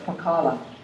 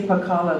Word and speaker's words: Pakala: And he was born and raised in a little plantation town of Pakala on the west side of the island. And actually we say Pakala now, but the pronunciation is Pa-Kala, the place where the sun beams down on it and just bakes it.